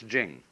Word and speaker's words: Jing: pronounced duh and Jing there is no apostrophe after the CH so if there were it would be pronounced Ching but it's Jing like a j and so Jing in